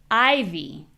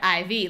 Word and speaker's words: IV: The only thing that changes is the stress.